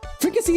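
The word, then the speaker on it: fricassée: Fricassee is actually how it's pronounced.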